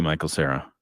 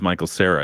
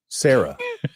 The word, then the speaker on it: Michael Cera: Now I see Michael Cera. Oh, so you said it was Michael Cera. It's actually Michael Cera. Sarah. That's what I said. It's spelled like different than I saw in my mind.